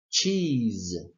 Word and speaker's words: cheese: sorry we say that this s becomes ZZ seiza so cheese well by extension by the same token we say cheese cheese cheese the next